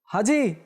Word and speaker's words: হাজি: গেল অনেকেই বলে হাজী হাজী ছোট হা দিয়ে কেঁচির মধ্যে যেটা হা ব্যবহার করে অথচ হবে হাজি হাজি যেটা হলক থেকে বের হয় হলকের মাঝখান থেকে হাজি যে হজ করেছে তো